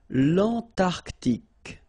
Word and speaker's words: l'Antarctique: Remember, Q-U-E here, it's K. Okay, so tic. L'Antarctique, l'Antarctique.